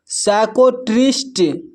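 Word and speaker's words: psychiatrist: यहाँ पर देखिए पी एस जो है एक साथ है तो यहाँ पर पी साइलेंट है। इसको पढ़ते हैं साइकोलॉजी, साइकोलॉजी। नेक्स्ट है साइकोलॉजिस्ट, साइकोलॉजिस्ट। यहाँ पर है साइकोट्रिस्ट, साइकोट्रिस्ट।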